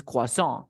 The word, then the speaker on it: croissant: It's like difficult to pronounce because we don't have this phonetic symbol in English, but it's croissant.